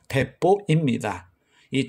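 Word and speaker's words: 鉄砲: 포다라고 해서 철포로 불렀습니다 철포의 일본 발음이 대포입니다이 총도 없이 한다는 뜻으로 사용되는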